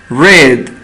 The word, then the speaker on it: read: here hertz oír ruiz red leer veamos acá este bebo rides se escribe igual en pasado pero se pronuncia diferente ruiz red el pasado